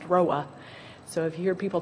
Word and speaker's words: ROA: which is called a Route Origination Authority, ROA, pronounced ROA.